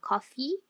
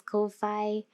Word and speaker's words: Ko-fi: And I also have a coffee, which is, I used to pronounce it as Ko-Fi, but is a place